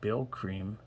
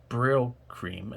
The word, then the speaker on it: Brylcreem: some reason i find bill cream brill cream so it's spelled b r y l c c-r-e-e-m braille cream captures um that perfectly